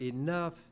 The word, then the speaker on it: enough: English is one of the most difficult languages to learn because that group of letters, O-U-G-H, in the word enough, it sounds like uff.